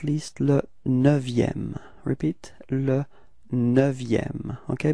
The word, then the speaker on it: neuvième: Repeat, le neuvième. Okay, be careful because this EU in neuvième is actually open. It's not E, but it's E. Okay, so it's neuvième.